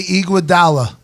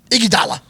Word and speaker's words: Iguodala: takes well I think Andre Iguodala is that pronounced right yeah I heard both different way Iguodala I think Andre Iguodala is the most underappreciated